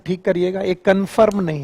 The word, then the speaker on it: conform: पहली बात तो इसका प्रोनाउंसिएशन ठीक करिएगा, एक कन्फर्म नहीं है। आप लोग जब इसे कन्फर्म बोलते हैं तो इसका मतलब है आप कन्फर्म कर रहे हैं कि आप बेवकूफ हैं। इट इज नॉट कन्फर्म, इट इज कॉन्फॉर्म।